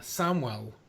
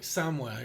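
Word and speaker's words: Samhain: pronounces it as the the Festival of like Samuel or uh or like samway or something and that could be like the Celtic pronunciation that's very true but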